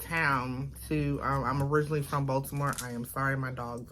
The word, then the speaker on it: Baltimore: how we say it baltimore we don't pronounce the t okay voldemort baltimore okay um but uh